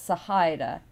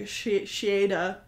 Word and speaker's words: Sahaida: azure language so it's sahaida you you s it's there's no it's oh yeah there's no chesh it's you pronounce the h oh sahida interesting okay because i was definitely pronouncing it like shita that one throws everybody